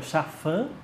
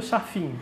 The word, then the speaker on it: Chaffin: Então, quer dizer, o seu sobrenome se pronuncia Chafin e todo mundo erra aqui, né? Todo mundo é Chafim para a senhora.